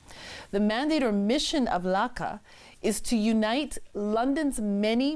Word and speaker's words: LACA: So tell us about LACA. Am I pronouncing it correctly?